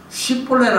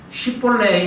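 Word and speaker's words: 쉽볼렛: 쉽볼레라 해봐라 라고 합니다. 그것은 꼭 강을 건너게 해달라는 의미입니다. 쉽볼레 이라면은 S 발음, SH 발음을 쉬 발음을 하는 자는 살려줍니다.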